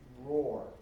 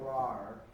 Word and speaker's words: roar: blast of thck okay try try saying roar with a long o okay Roar okay right now you're going raar okay and that sounds you know I don't know terrible okay Roar with a long R so Roar okay try that long r